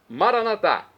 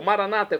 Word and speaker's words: Maranatá: Maranatá, como dizemos nós católicos, ou Maranata, como dizem nossos irmãos separados, evangélicos ou protestantes. Não importa a pronúncia, o significado é o mesmo.